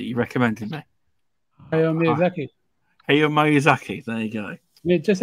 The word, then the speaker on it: Hayao Miyazaki: Hayao Miyazaki, there you go.